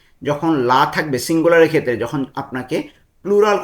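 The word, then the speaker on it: gli: এটার উচ্চারণ ইতালিয়ান হবে লি।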